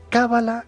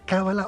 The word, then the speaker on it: cábala: buenas noches Pedro es cábala con el acento en la primera vocal cábala o cala a ver